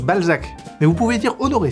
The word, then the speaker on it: Balzac: anglais sac de couille bolsac alors non vous n'êtes pas monsieur bolsac si mais ça se mais ça se prononce Balzac mais vous pouvez dire